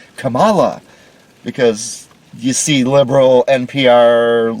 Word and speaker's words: Kamala: i'm sorry to me it says camella kamala harris but she pronounces it kamala because you see liberal